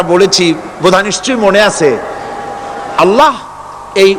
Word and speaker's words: আল্লাহ: বোধহয় নিশ্চয়ই মনে আছে আল্লাহ এই উচ্চারণটা আমাদের অনেকের হয় না কেউ বলে না আল্লাহ পাকের উচ্চারণ হচ্ছে আল্লাহ পাকের নাম হচ্ছে আল্লাহ মুখটা একটু গোল হয়ে যাবে বলেন আল্লাহ আল্লাহ পৃথিবীতে